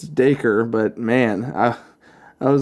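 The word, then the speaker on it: Dacre: I was trying to figure out how to pronounce his first name it's it's daker but man I I was like that's freaking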